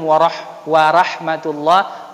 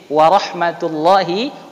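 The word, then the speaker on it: ورحمة الله: pasti Euro nyata dikenal jangan dibaca assalamualaikum wa rahmatullah wa barakatuh jangan tapi warohmatullohi wabarokatuh Hai ah jadi jangan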